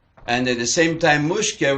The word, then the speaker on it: Mushka: And at the same time, Mushkah represents a name which is of the lower language, not Hebrew, not even Yiddish, because it is always pronounced Musia.